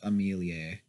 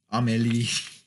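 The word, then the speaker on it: Amélie: of like the reverse Amelia Emily I mean he is how it's pronounced but Amelia if that will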